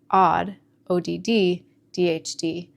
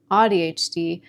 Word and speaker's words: AuDHD: I was pronouncing it as "odd," ODD, DHD. Once someone explained to me that it's pronounced as "awe" as in awesome, AuDHD, I began to feel